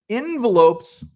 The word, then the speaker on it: envelope: also don't say envelope I say n en I basically say it how it's spelled envelope envelope e n v l e p o yes envelope so that's